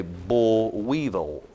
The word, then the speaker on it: boll weevil: cotton has heard of what's known as a bull weevil Weevil b-o-o-l Weevil w-e-e-v-i-l